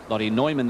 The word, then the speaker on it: Lottie Neumann: First look at Lottie Newman with her. Lottie Neumann, that is. Spelt Newman, pronounced Neumann.